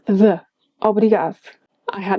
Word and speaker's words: obrigado: A very odd case of the D disappearing is in the word obrigado. Well, it disappears if you expect to hear obrigado, do.